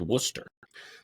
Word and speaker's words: Worcester: that's in Worcester Massachusetts spelled exactly like that brown sauce that everybody likes pronounced Worcester that's going to be July 13th 11: to 6 that's 11:00 a.m.